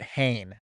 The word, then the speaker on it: Hehn: And by the way, Matt Hain is how you say his last name. We've never said it right in our lives. Matt Hain.